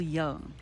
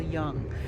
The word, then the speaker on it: Jung: Carl Jung. And I think it's spelled Young with a J-U-N-G, I think.